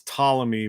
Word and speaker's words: Ptolemy: astronomer ptolemy and that's ptolemy but it's pt you know the p is silent he was a greek